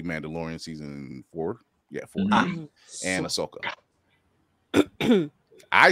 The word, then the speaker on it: Ahsoka: Skeleton Crew obviously Mandalorian season four yeah and Ahsoka I said it right I said I know